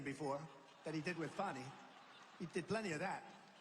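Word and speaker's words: Fani: counts he worked with fonnie even though it's spelled Fanny f a n i fny how about that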